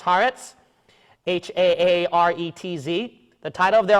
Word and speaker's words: Haaretz: Title of the article from, I think it's pronounced Haaretz, H-A-A-R-E-T-Z.